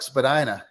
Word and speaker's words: Spadina: I mean, you know what's great about Chuck Spadina? It rhymes with everyone's favorite word, vagina.